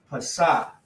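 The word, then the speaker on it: Pesach: The way you say it is Passah. Passah is the way you say, is how you say Passover.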